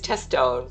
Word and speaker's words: Tesone: I I empathize by the way uh Grandma Arun because uh nobody says my last name right either. So when I when I've gone in and followed people uh everybody mispronounces it. So it's Tesone but for whatever reason